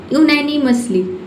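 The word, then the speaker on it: unanimously: यूनानिमसली, यूनानिमसली का मतलब होता है सर्वसम्मति से, ठीक है, यूनानिमसली। सर्वसम्पत्ति से, ठीक है, सर्वसम्पत्ति से पढ़ेंगे। इसे हम इसका प्रोनाउंसिएशन क्या होगा, यूनैनिमसली, यूनैनिमसली, ठीक है।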